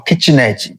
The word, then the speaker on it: kitnet: I won't be introducing you formally to what is called Kitness or Kitchen Edge, the way we pronounce it in Portuguese.